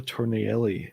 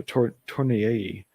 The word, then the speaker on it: Tornielli: Carla Tornielli. No, Tornielli. 2 L's in Spanish is like a Y in English.